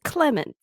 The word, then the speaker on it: Clemens: is fine comen yeah Clemens is a normal name I don't know why you're trying to pronounce it all extra Clemens because I heard comments Clemens got Clemens yeah yeah